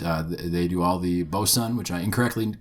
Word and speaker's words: Boatswain: for them but uh they do all the bosan which I incorrectly called boat Swain which is how it's written um but if you pronounce it the right way it's bosen um so don't send me any hate mail